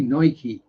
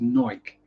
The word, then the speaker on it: Nike: no ad same as there's no why on the end of Nike if it had a y on the end of it it would be Nike it doesn't so it's Nike very very good show